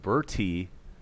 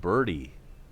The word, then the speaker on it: Berti: eats and here's John birdy his name is spelled BER T I like Bertie but it's pronounced birdie like as in golf all right so here